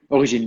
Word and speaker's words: Origine: I would say Origine. How do you say Yes. Origine? Origine? Origine, because we put the name in France, in French.